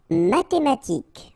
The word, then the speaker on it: mathématique: Mathématique. Remember, H doesn't exist, so mathématique. Remember, Q-U-E at the end, K.